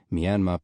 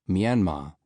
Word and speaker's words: Myanmar: country in English to Myanmar. The final R was meant to lengthen the vowel as it would when spoken in the southeast of England and not be pronounced.